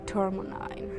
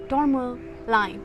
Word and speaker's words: tourmaline: is for my second second pile the black tourmaline you know i could never pronounce this right the first time normal line tourmaline okay yes okay you're not interested in